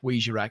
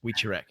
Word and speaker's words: Wicherak: His name's not Brad Wicherak; it's Wicherak.